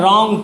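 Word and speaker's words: wrong: यहाँ डब्लू से लिखते हैं लेकिन इसमें डब्लू साइलेंट है, रॉन्ग पढ़ते हैं।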